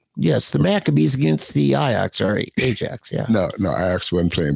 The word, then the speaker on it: Ajax: Ajax, we would pronounce Ajax, but it's Ajax.